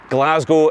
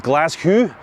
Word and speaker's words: Glaschu: cities in Scotland, I'm going to say that Glasgow is the best city in Scotland for walking.